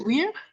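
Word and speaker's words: vir: it we what is Weir Weir if got weird anyone know what weird means is it like w iir v iir so in Latin you pronounce the V like w sounds okay it's the class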